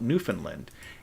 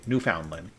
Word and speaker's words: Newfoundland: me and would say New Foundland New Foundland New Foundland not New Finland New Foundland and so they're very big on pronouncing it exactly how it's spelled which I guess you